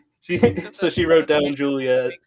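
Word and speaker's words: Giulia: She So, she wrote down Julia Julia with a G as like a kind of little joke.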